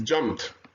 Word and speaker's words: jumped: In this case, it's jumped, like T.